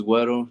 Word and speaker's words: Guero: this right real quick I was gonna ask you before I pronounced it if it was Guero or Guerrero my bad um no